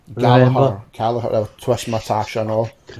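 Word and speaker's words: Gallagher: So, next we have Jack Gallaer versus a Oh, you to pronounce it. Galahar. Galahar.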